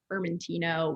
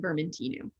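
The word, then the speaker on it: Vermentinu: so many italian events i'm so used to saying the italian pronunciation fermentino with the o at the end but i should since it's corsica b saying vermintinu which is going to be their typical pronunciation but i'm glad um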